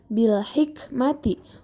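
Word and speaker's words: بِالْحِكْمَةِ: Selanjutnya, bil hikmati, hukum tajwidnya adalah alif lam qamariyah karena terdapat alif lam yang bertemu dengan huruf H, yang mana huruf H tersebut merupakan salah satu dari huruf alif lam qamariyah. Cara membacanya yaitu jelas.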